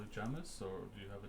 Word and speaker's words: Jamis: and uh should I say my name is Jamis Janice Jamis Jamis j-a-m-i-s I know listening though it's a